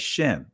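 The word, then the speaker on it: שם: Israeli language they refer to this word they pronounce it as Shem or shame right but sham from an ancient hebraic perspective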